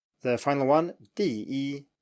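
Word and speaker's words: 第一: The final one, 第一, 第一, 第一, number one.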